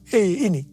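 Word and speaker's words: ה: yang terbentuk pada huruf He ini merupakan gambaran celah atau jendela mulut Tuhan yang menghembuskan rohnya. Perhatikan juga cara pelafalan huruf ini. Pun seperti orang yang menghembuskan nafasnya. Hei.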